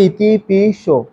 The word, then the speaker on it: ইতিপি সো: আসলে পালিতে যেহেতু দন্তাস এবং চ রয়েছে সেজন্য এই বিষয়টিকে আমি আমি প্রথমে যেভাবে উচ্চারণ করেছি আমরা সকলেই বলে ফেলি ইতিপি সো কিন্তু মজার বিষয় হচ্ছে এখানে আছে রয়েছে দন্তাস সেজন্য এটি উচ্চারণ করতে হবে ইতিপি সো আমি যখন ইতিপি সো